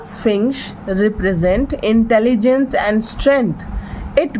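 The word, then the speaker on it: Sphinx: द स्फिंक्स Ishan ये स्फिंक्स है न एस पी एच आई एन एक्स इसको कहते हैं स्फिंक्स ओके प्रोनाउंस करेंगे इसको स्फिंक्स यह उसकी मां उसको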